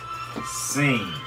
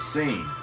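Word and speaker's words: سين: Now the first one after Zayn is Seen. Seen. And he said just like it's pronounced, just like he said, Seen.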